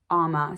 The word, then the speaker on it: UOMA: the brand alma beauty i have seen this pronounced probably 10 different ways but i looked on their website and it specifically has a pronunciation on their like about page and to me the pronunciation description looks like it says ama so that's what i'm going with if i'm wrong please